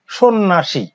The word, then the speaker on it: সন্ন্যাসী: যেমন এই যে সন্ন্যাসী, উচ্চারণ কি হলো সন্ন্যাসী, এখানে জফলার কোনো উচ্চারণ নেই।